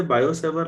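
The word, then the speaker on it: Biot–Savart: तो हम इसे बायोसेवर लॉ या इसका बेहतर प्रोनाउंसिएशन और भी गूगल में ढूंढिएगा, मिल जाएगा। तो टी साइलेंट ही रहता है फ्रेंच वर्ड में।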